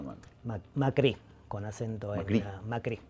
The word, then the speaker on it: Macri: Macri, con acento en la I.